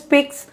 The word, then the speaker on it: piques: যে see the artificial heart, there is nothing that piques, the pronunciation is piques the interest of a human being quite as much as the prospect of living a longer life.